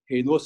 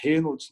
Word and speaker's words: Raynaud: Raynaud se escreve com R-A-Y-N-A-U-D. Raynaud, não é Reynolds, não é Richards, não é Reinaldo, mas é Raynaud.